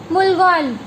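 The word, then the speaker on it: 물건: Second है मुलगोन। कैसे pronounce करेंगे? म उल मुल गोन, गोन, मुलगोन।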